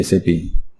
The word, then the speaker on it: SAP: People often want to know how do you say SAP. Since it is an acronym, it is pronounced as individual letters SAP. SAP is not pronounced as the word SAP.